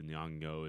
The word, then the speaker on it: Nyong'o: Lupita Nyong'o is also in like a million things. I'm sure I pronounced her name wrong.